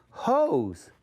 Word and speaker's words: hose: No, that's not a hos, but I have to have that clue. And there's that E and what is the E doing? The E is telling the O to say his name. So now it says hose.